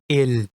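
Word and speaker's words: 일: Notice the consonant in the final position of the syllable. Yes, it is real. We know that its sound should be R, but it is a bachim, which is a consonant that is found in the final position of the syllable. So, its sound becomes L.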